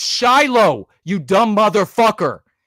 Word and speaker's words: Shiloh: I have no idea how to pronounce that first name. It's Shiloh, you dumb motherfucker.